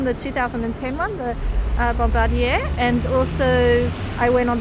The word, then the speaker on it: Bombardier: I I pronounce it other people call it Bombadier which is not very nice cuz that's the bombers uh not the not the company's name so they borrowed a a nice bombarder or Bombardier as I call it